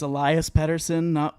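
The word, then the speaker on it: Pettersson: last thing with pettersen are we agreed it's Elias Patterson you know all the people trying to pronounce it with a Swedish accent I just went off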